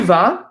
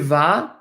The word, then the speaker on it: vas: speaking, actually almost always, final consonants in French are silent, so we do not pronounce this S. It is just ve. Okay? Tu vas either means you go or you are going. Tu vas, you go, or you are going.